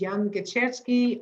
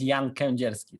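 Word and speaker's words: Jan Kędzierski: was very close uh actually my name is jan kenjerski so it's a polish name so that's why it's sometimes difficult to pronounce but it's totally fine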